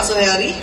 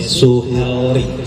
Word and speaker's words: Suhelri: Suhelri, L dengan R itu beda-beda. Ya kadang-kadang orang menghilangkan L-nya, Suhelri.